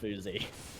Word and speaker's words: Fousey: appreciate the feedback but i know from the man himself that it's pronounced fousey yeah well basha he's